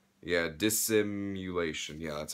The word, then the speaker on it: Dissimulation: That's Dissimulation with their, I think that's how you pronounce their name. Yeah, Dissimulation.